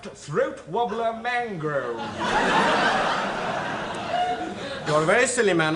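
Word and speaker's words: Throatwobbler Mangrove: yed no no no it's spelled Raymond luxury yed but it's pronounced throat wobbler mango you're a very silly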